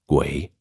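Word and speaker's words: 鬼: In Chinese, it is pronounced guay and usually means pretty much the same thing, but has more of a ghost connotation.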